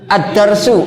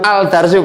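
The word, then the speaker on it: الدرس: Contohnya, contohnya addarsu. Ah, addarsu ah. Addarsu. Adarsu bukan aldarsu, Pak. Ya, ini memang harus dicermati jangan sampai membacanya aldarsu.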